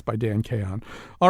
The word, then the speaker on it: Chaon: It's by a writer named Dan Chaon, I think. I don't really know how to say his name. It's Chaon, so it's like chaos but with an N at the end.